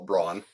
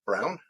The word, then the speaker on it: Braun: Yeah, Christian Brown, who I want to call Braun, and so do all the announcers. They can't get over the fact that it's pronounced Braun or yeah, Brown, but he had a